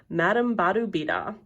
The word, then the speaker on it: Madame Badobedah: grubs that was when i named her madame badubida rhymes with ooh la la a good name for